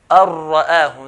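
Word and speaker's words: أن رآه: So this will be ar-ra'ahu, not an-ra'ahu. We don't want that nasalization.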